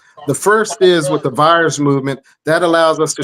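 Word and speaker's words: PHIERS: FIRES is an acronym that's spelled P-H-I-E-R-S. The PH makes the F sound, as in like philosophy.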